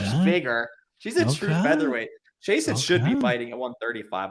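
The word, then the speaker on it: Chiasson: name christian you know she says jason sounds ridiculous mason macy jason uh oh well that makes sense macy jason and it kind of rhymes plus 185 versus 225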